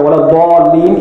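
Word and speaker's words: ولا الضالين: word in Surah Fatiha, وَلَا-ضَالِّينَ, it must be pronounced with the makhraj of the dad.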